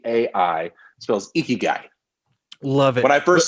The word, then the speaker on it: ikigai: i so i k i g a i icky guy love it when i first said it out loud my son thought i was talking about a gross male like he was an icky guy well like no you showed me that diagram